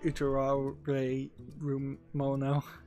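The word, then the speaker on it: Utawarerumono: and two heart projects I think I pronounced that right utero really room mono u t a w a r e r u m o n o one word uh um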